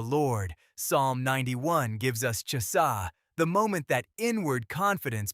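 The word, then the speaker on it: חסה: The Hebrew word here is Chasah, pronounced Chasah, Strong's H2620.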